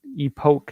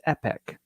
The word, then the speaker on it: Epoch: So technically, if you're in the United States, the pronunciation is epic.